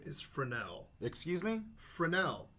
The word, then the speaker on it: Fresnel: Like all names in New Orleans, there's a silent S. I mean, Steve is spelled Steve, and the first S is silent. Yeah. Come on, guys. It's French.